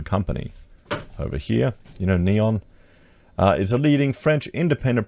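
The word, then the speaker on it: Neoen: to sign a contract with renewable energy specialist neon so they pronounce it to deliver a new tesla battery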